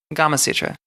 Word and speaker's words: Gamasutra: a gamma Sutra yeah Gamasutra Oh rhymes with Kama Sutra I thought it was